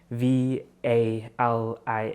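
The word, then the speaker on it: valiha: for example the valley v a l i h a you would be like oh valia like that's what it's called and they're like no take the ha away so it's just a vali for example and then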